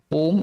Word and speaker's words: Om: Om has 3 syllables. What is that? A, that is the beginning of sound. U, it rolls, so it's the middle portion, it covers everything. Ma is the end. A, U, Ma.